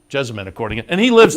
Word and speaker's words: Jessamine: good because as they say I've heard it pronounced a couple of ways Ken mcpeet just corrected me though I would say Jessa Mike for the the stakes race up at Keeneland it's jessamine jessamine according it and he lives there so it's